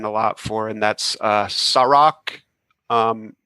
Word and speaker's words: Sa-Roc: I love that still, but I have another one that I'm really been riding a lot for, and that's Sarok, and it's spelled SA-ROC.